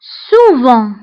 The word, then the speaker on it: souvent: Souvent, souvent, souvent. غالبا, souvent. فهنا souvent كنكتبوها بالت في آخر الكلمة ولكن لا ننطقها.